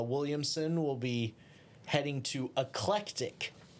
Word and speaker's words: Eclectic: But uh Williamson will be heading to Eclectic excuse me Eclectic Alabama for uh for their game with uh Elmore County. That is that is the name of the city. Eclectic.